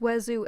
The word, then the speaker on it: oiseau: It's pronounced oiseau, and yes, I will die mad about it.